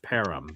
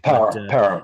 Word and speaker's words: Parham: It looks like it's Parham, but it's pronounced Parham. Parham, like Durham, North Carolina.